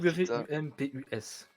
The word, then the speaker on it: Wumpus: Elle s'appelle Wumpus. D'accord. Wumpus. Wumpus. putain. W-U-M-P-U-S. Comme ça s'écrit.